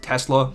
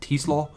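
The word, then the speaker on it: TeSlaa: You know, they bring in Isaac Tesla. I know it's not how you pronounce his name, man, but I'm not pronouncing it. Tissaw. It's his his pronunciation he wants is so weird.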